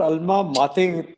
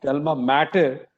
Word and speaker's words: alma mater: I mean, see, giving back to your alma mater. Somebody call it alma mater, but the right pronunciation is alma mater.